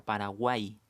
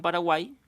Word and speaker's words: Paraguay: que estos de aquí, hay casos especiales en que la I griega, que le llamamos, a veces funciona como I latina, no la pronunciamos como doble L, la pronunciamos como I. Claro, como en esta palabra, buey, la estamos pronunciando como letra I a la Y.